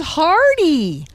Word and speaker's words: Hardy: His name is Hardy. It rhymes with party, and I've partied with Hardy.